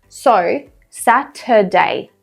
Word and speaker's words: Saturday: If you watched my video last time, I talked about the schwa sound, which is common in Saturday because we don't pronounce the R. So, Saturday.